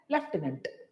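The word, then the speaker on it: lieutenant: People use to speak, जहां पे एफ है ही नहीं, बट हम लोग प्रोनाउंसिएट क्या करते हैं? लेफ्टिनेंट। Next is what?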